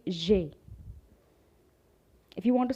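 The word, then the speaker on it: j'ai: know it's very simple no you don't have to pronounce the ai you just have to say jay if you want to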